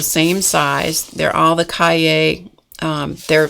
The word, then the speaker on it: Cahiers: This is pronounced Cahiers line.